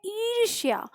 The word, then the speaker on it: ईर्ष्या: ईर्ष्या तो हम बोलते हैं ईर्ष्या, तो ईर्ष्या श के बाद य का उच्चारण कर रहे हैं, इन किसी में य का उच्चारण नहीं है, तो कट गया, हमें आंसर मिल गया।